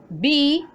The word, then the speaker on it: biblioteca: Realizamos la mayor fuerza de voz en la sílaba T.